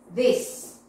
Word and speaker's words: this: The pronunciation there, pay attention. These. Yes. Keys. Yes. It. La I larga. And then you have the short E. Yes. Pink. Green. Yes. You have the difference between the long and the short, yes? These, yes? Pay attention here. These, yes? And the pronunciation here is this, this, la y cortita, okay? So tenemos y larga y cortita.